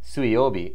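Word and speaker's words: 水曜日: But yeah, so like Suiyobi is how you pronounce Wednesday, water day, even though you might have thought, why wouldn't it be Mizu?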